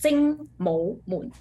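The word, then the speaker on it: 精武門: This one will pronounce like Jing Mo Moon.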